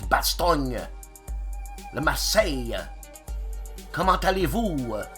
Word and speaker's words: Bastogne: I should say, yeah, they'll pronounce the vowel at the end, so it's Bastogne.